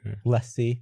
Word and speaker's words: LaCie: Yeah, he just designed every Lacy drive for some reason. You say Lacy? I say LaCie as well. Lacy.